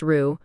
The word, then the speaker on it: roux: Enter roux, pronounced roux.